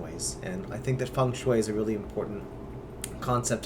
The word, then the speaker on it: Feng Shui: Quite interesting how that works, but I believe that Feng Shui is the more formal way to say it and does not follow the phonetic spelling.